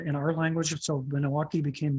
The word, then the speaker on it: Milwaukee: And so that's how we used to pronounce it, but we didn't really have an L sound in our language, so Minnow-Aki became Milwaukee.